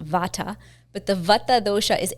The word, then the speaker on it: Vata: teach is V the we pronounce it here in the west Vata but the Vata DOA